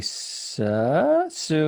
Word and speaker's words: Seo: came to see now i pronounce this wrong all the time i'm going to say sir correct correct right so i came